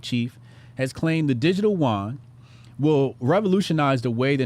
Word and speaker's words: yuan: says a Chinese central bank chief has claimed the digital yuan will revolutionize the way the nation makes retail payments and suggested the CBDC could one day completely replace cash.